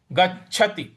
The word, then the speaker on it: गच्छति: है मधी उसके बाद गच्छ गच्छति तो गच्छ जो च आ रहा है यहां पर हमको थोड़ा सा बल लगाना है तो गच्छति त के त पे छोटे इ की मात्रा है इसलिए ती करेंगे गच्छति गच्छति इस प्रकार से बोलेंगे तो पूर्ण पंक्ति पढ़ते हैं।